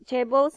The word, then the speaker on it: chaebols: Chaebols ni kalau you selalu tengok K-pop, drama, saya rasa you tahu.